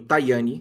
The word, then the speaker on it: Tajani: Na última sexta-feira, o vice-preiro ministro eh chamado Antônio Taiani, que se escreve Tajani, né? eh, fala Tai, ele trouxe uma proposta